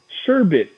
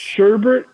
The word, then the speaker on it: sherbet: and it says sherbet the proper pronunciation for this kind of ice cream deal sherbert a commonly mispronounced version of the word sherbert is the mispronounced sherbert is wrong okay it's mispronounced it's not even an alternate definition or an alternate pronunciation it's just wrong but no one no